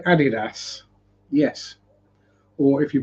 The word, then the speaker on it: Adidas: large can I say Adidas yes or if you pronounce it correctly it' be Adidas or Adidas because it's named after the first two letters of the two German brothers who formed the company and yes I am